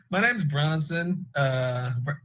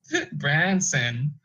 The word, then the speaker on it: Bronson: name is stupid idiot now my name is Bronson Bronson let's be are ons o n not